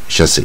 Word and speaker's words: chassis: 出来比较好念啊。Chassis Chassy。